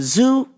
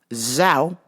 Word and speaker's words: Zhao: blah blah from the zoo. And I was like, "Zoo? What the are you saying?" So I sounded confused because clearly she didn't know how to pronounce Zhao. She said zoo.